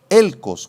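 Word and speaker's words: ἕλκος: úlcera si quieres escribirla es la palabra griega elcos con acento en la e y k elcos y esta palabra eh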